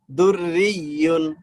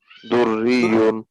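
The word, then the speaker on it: دُرِّيٌّ: দুইটা দুররিয়ুন, তাসদিদ একসাথে, দুইটা তাসদিদ একসাথে, হ্যাঁ। দুররিয়ুন, দুররিয়ুন, দুররিয়ুন। এই যে দালে ধরবে রা রে, রা রে গিয়ে আবার ধরবে ইয়াকে।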